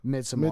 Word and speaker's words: Midsommar: But It's Midsommar, trash. though, I'll give the cinematography of that movie. It was really good. What And then movie said again? Midsommar.